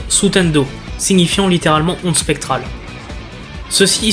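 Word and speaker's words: スタンド: celle-ci, car en japonais, l'écriture de stand se prononce sutendo, signifiant littéralement onde spectrale.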